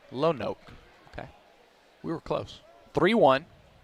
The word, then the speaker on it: Lonoke: It's pronounced Lonoke. Lonoke.